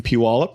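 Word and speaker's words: Puyallup: I pastor a church in Puallup.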